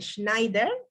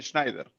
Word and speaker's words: Schneider: un panel de lujo con Sabina Ríos, Schneider, perdón, pronuncié bien tu nombre. Está bien, Schneider.